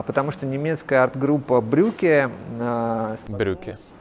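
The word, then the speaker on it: Brücke: И изобретена она была не потому, что кто-то искренне возлюбил линолеум, а потому что немецкая арт-группа Брюке... Брюке. Брюке, как брюки, только в переводе «мост».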